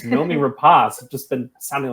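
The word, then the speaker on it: Noomi Rapace: That is the way you pronounce it. I've been calling her Nomi Rapace for so long, and it's Nomi Rapace.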